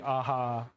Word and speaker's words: Aja: That's the artist's last name. It's David AHA. Oh, okay. Oh, okay. I was Or like, what? I don't know this term. AJA is how it's spelled.